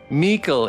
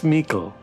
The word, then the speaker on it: Mikkel: Mikkel is the correct pronunciation. Thank you, Polly. Mikkel, it's Mikkel, you guys. Michael. It's not Mike with an L on the end. That's just silly.